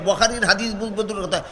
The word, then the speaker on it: বুখারী: এটা ইংলিশ বুখারী পড়ে, ইংলিশ অক্ষরে বুখারী নাম বানান লেখা হয় BUKHARI। এটা কের পরে যেহেতু এইচ দিয়া বুখারী লেখে, এখানটা খার উচ্চারণ গাদায় চিনে না, কয় বুখারী, বুখারী না বুখারী।